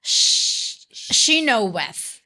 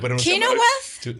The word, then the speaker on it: Chenoweth: Pero anyway, esta profesora se llama Erica Chenoweth. Sí, se pronuncia así. Yo lo hubiera pronunciado diferente, pero está bien. Chenoweth.